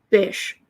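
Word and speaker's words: Bysshe: b-y-s-s-h-e or something and i've always found it weirdly appropriate that it's pronounced bish does not say how it's pronounced percy bish shelly oh he abandoned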